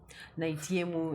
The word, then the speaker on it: Naitiemu: Naitiemu Nyanjong. Nyanjong. Yeah, that was the name. Nimetry kuipronounce kimoyomoyo haikuji jamani.